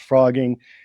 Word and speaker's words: phrogging: And it's pronounced frogging.